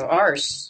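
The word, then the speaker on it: arse: It's a R S E. So, you know, we spell it with extra letters. So, yeah. So, you spell it differently though, don't you? Ours.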